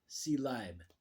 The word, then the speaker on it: Ceyleib: It's spelled Ceyleib. Seeleib. The Seeleib People with Tanyet.